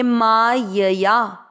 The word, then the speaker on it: मायया: माँ मात्रा दीर्घ है, माँ य में अमिक्स करेंगे, मायया, या भी दीर्घ करना है।